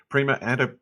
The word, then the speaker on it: Prima: and fashionable fitness apparel brand while eddings revolutionary prima am i pronouncing that correctly very good prima antibacterial fabric was originally created to fight odor